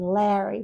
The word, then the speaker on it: Larry: And then Larry, which becomes a short A again because of the two Rs.